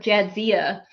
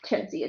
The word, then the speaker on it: Jadzia: Man, the vet had a hard enough time with Jadzia. Everybody kept asking me how to pronounce Jadzia's name, and I'm like, it's like it's spelled.